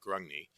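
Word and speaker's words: Grungni: and the second one was grung knee and it's spelled g-r-u-n-g-n-i grungney uh Grim near was a passionate violent Warrior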